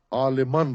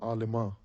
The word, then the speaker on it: عالمان: ہے نون غنہ، ہمیشہ نون منقوط ہوتا ہے، غنہ نہیں ہوتا۔ عالمان را، عالمان را نہیں، عالمان فارسی نہیں ہے، عالمان اردو میں ہمیشہ یہ نون غنہ لکھتے ہیں، عالماں اردو میں ہے یہ تلفظ لیکن فارسی میں نہیں ہے۔ عالمان را جلوش حیرت